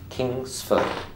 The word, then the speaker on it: Kingsford: Kingsford. So how many syllables? Kingsford. 2. Right. How many syllables in Hillsdale? 2. 3. You sure? Yes, 2. Right. So Kingsford, that's 2 syllables. Kingsford.